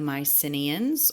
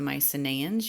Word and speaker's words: Mycenaeans: stars of ancient Greece the Mycenaeans or the Mycenaeans you'll hear it pronounced both ways and stay tuned to